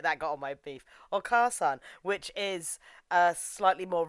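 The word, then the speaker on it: お母さん: Okasan is how you pronounce it. That got on my beef. Okasan, which is a slightly more respectable term for mother, but not as respected as Hahawe.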